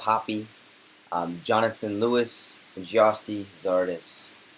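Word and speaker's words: Hoppe: forwards paul areola daryl dk nicholas jacini matthew hop is pronounced hoppy jonathan lewis and giasti zardes and this is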